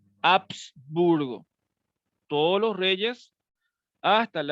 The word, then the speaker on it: Habsburgo: Un poco, la pronunciación es con H, ¿verdad? Habsburgo.